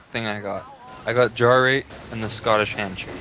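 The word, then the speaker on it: Jarate: It's Jarrate. It is pronounced Jarrate.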